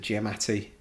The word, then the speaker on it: Giamatti: I pronounce it wrong. Is it Giamatti?